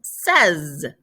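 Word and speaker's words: seize: 16 is says. They rhyme with each other.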